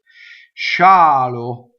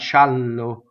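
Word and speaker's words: scialo: time you'll be right chalo chalo again Shh is a double consonant right but notice the double that single L right xialu not shallow I've heard that so many times shallow da is a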